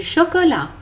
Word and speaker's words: chocolat: Du lait, du chocolat, du café au lait, du thé, du jus de fruits, du pain, des biscuits, des biscottes. Attention, dans le mot lait, on ne prononce pas le T.